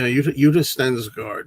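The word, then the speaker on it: Yutte Stensgaard: She's from I don't know how to pronounce her name. She's from Lust for a Vampire. Uta Stengard. Utensgard. Yeah. Udist Stengard.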